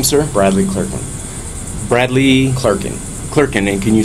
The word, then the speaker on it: Clerkin: is your name sir Bradley Kirkland Bradley Clarkin klerken and can you spell that for me CL AR K and and